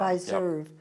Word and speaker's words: Pfizer: Is that how you pronounce it? Pfizer Forum. Pfizer Yep.